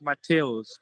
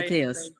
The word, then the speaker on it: Matthias: Matthias. Yeah, it's almost correct. It sounds like more like Mateos, but it's correct. You can call me by Mateus.